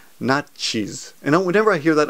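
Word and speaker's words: ナチス: By the way, in Japanese, if you say Nazi, no one will understand. You have to pronounce it correctly. It's nachis.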